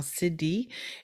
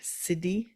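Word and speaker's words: siddhi: and the cidy frequency now cidi is spelled s i ddh it's a Sanskrit word cidy I think we've talked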